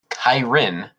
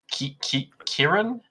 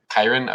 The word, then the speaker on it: Kyrin: your plans to marry the Kyrin, Kiran, that you've been seeing. You said it right the first time. Kyrin? Okay.